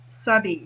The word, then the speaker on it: s'habille: I'm going to write s'habille. So s goes with il or l, and habille starts with a vowel sound. The H is silent.